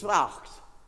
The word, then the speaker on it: Wacht: They pronounce W as a V. So in the second line, it's Wacht.